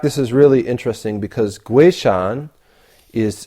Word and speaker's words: Guishan: And in fact, this is really interesting because Guishan is, that's the pinyin pronunciation of his name, or Guishan in Wade Giles or something like this.